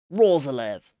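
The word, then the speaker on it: Roerslev: Rozalev. He scored last week. It's a fun name to say. It is. Rozalev. It's spelt completely differently to how it's supposed Roeslev. To say.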